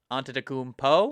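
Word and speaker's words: Antetokounmpo: get it yeah yes but technically the p is a b what did i say onto the coompo did i say poo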